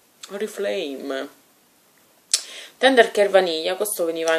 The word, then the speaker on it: Oriflame: Della marca, io la pronuncio proprio così, Oriflame. Oriflame.